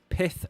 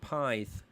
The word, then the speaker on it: Pith: Now, where I'm from, that would be pronounced Pythe, as in Blythe, because Blythe Spartans are a football team. So I would have called it Pythe, but apparently it's Pith.